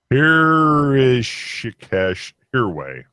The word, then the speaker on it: Rishikesh Hirway: It's Rishikesh Hirway. How do you spell that?